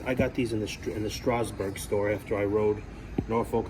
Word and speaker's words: Strasburg: That's actually how it's pronounced. For 20 years, I always said Strasburg. It's pronounced Strasburg.